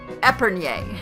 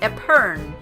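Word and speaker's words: epergne: And that's spelled E P E R G N E. And I used to say it Epern. And it's not. It's Epern.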